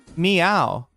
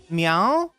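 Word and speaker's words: เหมียว: Chat, it actually starts with an H. Like the word is technically h e m um like long vowel i y w meow meow. It's like there's like a he meow there, but you don't pronounce the hem, right? It's like it's there, but it's just like silent.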